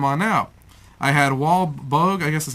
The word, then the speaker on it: Boag: I had Wal Boag, I guess that's how you pronounce it, B-O-A-G, Bob Gurr, and on the same show.